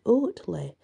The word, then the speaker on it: Otley: pronounce it oh and some people now say otley I say it was otley because it's o t l e y but I have heard if you call it oddly but in my book if it were ortley it would be oat but that's just my presumption absolutely staff at the